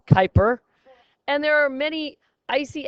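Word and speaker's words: Kuiper: Pluto lies something called the Kyper Bel pronounced Kyper and there are many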